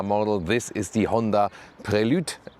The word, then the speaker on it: Prelude: This is the Honda Prelude, as it is in the correct French pronunciation.